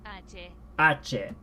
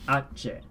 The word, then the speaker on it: hache: Is this ache or hache? H. Ache. So I pronounced that wrong, but my assumption was hache, and that where is get to tell us if we're saying it right.